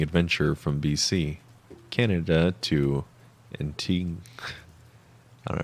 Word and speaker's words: Antigua: I was on a hitchhiking adventure from BC, Canada to Antigua, Guatemala, which started in September of 2019.